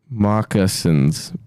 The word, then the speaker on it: moccasins: Pronounce the C before the S. Moccasins. Oh, wait, is that how you say it? I always thought it was moccasins, but it's moccasins?